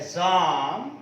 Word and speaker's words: Psalm: In poetry there is a poem entitled A Psalm of Life. A Psalm of Life. P is silent.